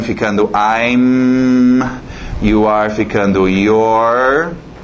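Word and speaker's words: you're: You are ficando your. Mesma pronúncia daquele outro your, possessivo.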